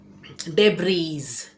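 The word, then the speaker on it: debris: अगला शब्द देखते हैं, डेब्रीज, डेब्रीज यानी कि मलबा, यहाँ पे एस साइलेंट है, ये डेब्रीज नहीं होगा, डेब्री, डेब्री, स्पेलिंग भले ही एस है लेकिन एस साइलेंट है, इसीलिए डेब्री, डेब्री, ठीक है।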